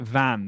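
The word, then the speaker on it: Vannes: I think you pronounce it Van. The town is Van.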